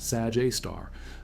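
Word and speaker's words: Sagittarius A*: Sagittarius A star pronounced Sag Aar abbreviated Estraar A star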